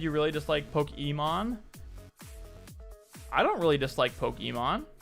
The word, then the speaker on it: Pokimane: You gotta underp that, because if you actually go on her Twitch channel, she pronounces her name Pokemon. Poke-E-means the wrong way to say it.